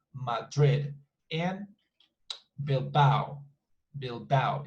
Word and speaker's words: Madrid: So as you can see, it's just 2 syllables, Madrid, and Bilbao.